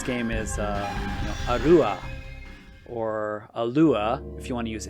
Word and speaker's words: Alua: a-l-l-u-r-e Allure and there is no Ray at the end there is no Katakana Ray so that is an incorrect spelling it's uh just a Lua and I think that's the best way to say her name and if you wanted to spell it uh you know A-L -u-a or you could do a double L I guess a-l-l-u-a alua but no it's not Allure